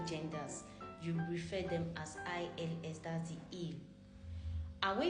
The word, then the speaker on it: ils: So when we are talking about ILS, it's still pronounced il.